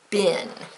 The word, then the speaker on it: been: put in a parenthesis because in our American dialect we say it Ben even though it's spelled being now the British dialect usually says the long e sounds so they might say where have you been and we would just say where have you been our American dialects so it sounds this way but it's spelled this